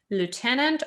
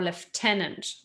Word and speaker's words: lieutenant: talking about kernel and lieutenant or lieutenant okay because they're quite different in british and american english so pay attention to